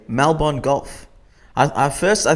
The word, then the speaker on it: Melbourne: I got to say Melbourne golf I at first I thought it was like how Americans say Melborne like they can't say melbour they say Melbourne and no offense to